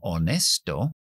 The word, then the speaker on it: honest: una Hache al principio pero es totalmente muda no es lo mismo muda que sorda muda no se pronuncia nada zurda se articula la letra en este caso pero no se activa la voz Buda es honest no está la H honest nuestra siguiente letra es